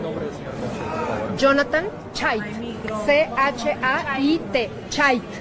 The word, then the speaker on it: Chait: C-H-A-I-T. Chait. Se pronuncia Chaite, como Chaite.